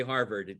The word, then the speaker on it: Hartford: We say Harvard, the T is silent.